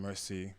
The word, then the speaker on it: Mercii: know cool beans so my name is pronounced mercy medicine uh it's french for a thank you medicine mercy all those things but